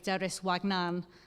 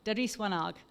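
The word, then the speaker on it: Deris wanaag: And I don't think a better phrase than the Somali phrase, Deris Wagnan, I'm going to pronounce that wrong, aren't I? Wanag, Deris Wanag.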